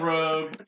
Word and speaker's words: Rogue: They The- say Rouge, the- but they're wrong. It's spelled Rogue. It's like Moulin Rouge.